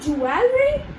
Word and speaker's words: jewelry: So over here, instead of saying jewelry, you just have to remember that the sound that is being followed over here is of jewel. Okay? And over here, instead of RY, you just have to speak, you just have to speak REE.